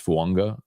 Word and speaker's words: Fuanga: Like Tua is Tungo Vailoa, and it's not Fuaga, it's Fuanga. I mean, it's just, I don't think it's an unwritten rule. I mean, I think that's how you pronounce the name.